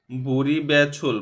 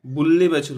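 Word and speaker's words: 분리배출: বুড়ি বেছুল মানে কি বুল্লি বেছুল হবে এখানে। বুল্লি বেছুল কেন, নিয়ন বাচিমের পরে রিউল আসলে লয়লে উচ্চারণ হয়।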